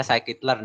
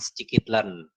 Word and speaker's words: scikit-learn: jadi ah sakit LED ini bacanya saya kitler ya guys bukan scikit-learn ada yang Soalnya ada yang bilang scikit-learn kayak gitu jadi Panda sketsa iklan